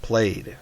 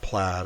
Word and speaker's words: plaid: Scots word that means uh, blanket and it's pronounced played, not not plaid.